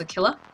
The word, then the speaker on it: Aquila: It's not Aquila, it's Aquila, apparently.